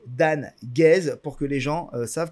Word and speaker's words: Dan Guez: se prononcer dans bon ben voila je vais prononcer dan guez pour que les gens savent comment mon nom